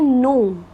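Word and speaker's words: know: Students ये जो word है के एन ओ डब्ल्यू इसे हम बोलते हैं नो। क्या बोलते हैं? नो। इस वर्ड में जो के लेटर है वो साइलेंट होता है।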